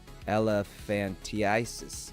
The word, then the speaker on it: elephantiasis: Elephantiasis. Ah, that's how you say it. I thought it was elephantitis. Oh, I get it. So the actual word is elephantiasis. Tiasis is not elephantitis. Interesting.